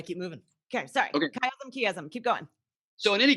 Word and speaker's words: chiasm: I'm not sure, but something called a chiasm. I don't know if you guys have talked about I chiasms always pronounce before.